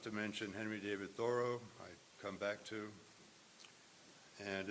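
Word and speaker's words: Thoreau: as being in the no it's not thorough it's only linguist tell us there's no way it could have been pronounced thoro in his time Henry thoro while a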